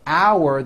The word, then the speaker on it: hour: Also, while we are on the subject, note the word hour that is used for telling time is pronounced exactly the same way as in our meeting is in 1 hour.